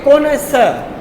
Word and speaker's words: connoisseur: CONNOISSEUR, और इसको pronounce कैसे करेंगे? जी, CONNOISSEUR, जी। इसको हम पढ़ते हैं कि कोनेसर, कोनेसर, ठीक है।